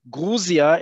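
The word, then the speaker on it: Грузия: remember britain the ussr guruzia is how you say the country in russian it has to do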